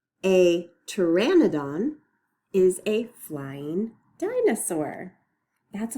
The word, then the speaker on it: Pteranodon: That means we're not going to say the sound that the letter P makes. So we don't actually say P at the beginning.